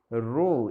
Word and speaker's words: rho: রো, এটাকে বলে রো, এটা একটা গ্রিক অ্যালফাবেট, RHO, বাংলা উচ্চারণ রয়কার।